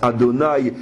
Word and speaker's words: Adonaï: qui a quatre lettres qu'on ne lit pas tel qu'il s'écrit qu'on prononce Adonaï et non selon l'écriture véritable et ces quatre lettres